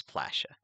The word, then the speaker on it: Palasha: Yeah, I know it's spelled Palasha, but in the book it says Plasha. Plasha, okay. Oh, okay, that's cute. All right. I think it's because it's supposed to be like splash, you know?